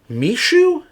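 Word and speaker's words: Meesho: that is growing incredibly fast I believe it's pronounced Mishu me S ho o they it is a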